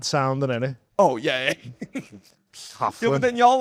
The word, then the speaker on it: Coughlin: It's Coughlin.